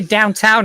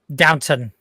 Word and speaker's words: Downton: I guess we watched Downton Abbey. Okay, never mind. I was like, why would you? Never mind. Okay. I'm sorry. Did you just say Downtown Abbey? Is that what it's called? Downton. Not downtown.